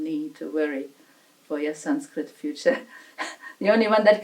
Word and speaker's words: Sanskrit: We're using that N because it is closer to N in our North Indian pronunciation. Sanskrit. Sanskrit.